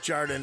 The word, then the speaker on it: Jardin: you're at the counter don't call it gardenia it's pronounced jardin there this break is sponsored